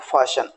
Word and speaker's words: fasten: सो ये सारे वर्ड्स आप देखेंगे, जैसे यहाँ टी लेटर को हमने साइलेंट रखा हुआ है, FASTEN, इसको बोलेंगे फाशन।